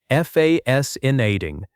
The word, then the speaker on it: fascinating: Stress on the first part, fascinating.